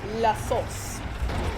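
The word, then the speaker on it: La Source: It's pronounced La Sauce. La Sauce.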